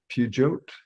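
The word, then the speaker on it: Peugeot: European car it's a French company pugot yep but yeah fucking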